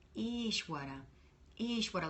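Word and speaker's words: Ishvara: down the street and be like ish ish ish water no she took not ish waters ishwara ish what I like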